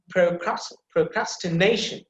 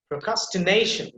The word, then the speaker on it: procrastination: You see the secondary stress marks is there right before the ka sound, okay? So look at this. Procrastination. Procrastination. See, nation. I'm pronouncing there because the na sound, that syllable, it will be emphasized because you can see the primary stress marks there at the top of na sound.